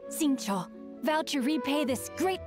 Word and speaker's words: Xingqiu: Intanto però dobbiamo cercare Xingqiu, a quanto pare il Qiu si pronuncia Cho, quindi ripeto, i nomi